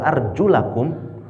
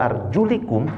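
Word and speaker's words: أَرْجُلَكُمْ: enggak boleh di Basuki tapi kalau kita biasanya gua arjulikum pakai kasrah maka berarti kaki itu diusap bukan dicuci kalau kita bacanya kasrah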